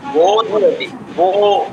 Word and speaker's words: बोधयति: उत्तमतया गणितं बोधयति सः বোধয়তি, বয় ওকারটা দীর্ঘ উচ্চারণ হবে, বোধয়তি।